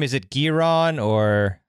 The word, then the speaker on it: Giron: And how do you pronounce his last name? Is it Giron, or how do you Giron, say it? Yeah. Giron.